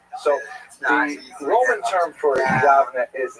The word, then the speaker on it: Yavne: First of all, what exactly was Yavne?